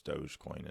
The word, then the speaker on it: Dogecoin: coin or dogie Claymore it's dogecoin is how you actually pronounce it but you know that's